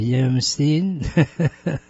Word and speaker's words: Yamstein: Am I pronouncing your last name right? Is it Yamstein? It is. You got it right, Ike.